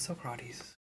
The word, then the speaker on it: Socrates: Of course it's Socrates. Socrates. Why did I pronounce his name that way?